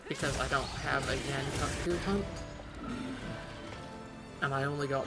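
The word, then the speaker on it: Yian Kut-Ku: It is not Ian Kutku, it is Yan Kutku, and I will hear no arguments.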